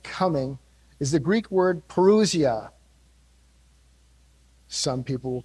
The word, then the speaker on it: parousia: about the second coming is the greek word parousia some people will call it perocya but most greek experts will pronounce it perusia it don't matter it's a fancy greek word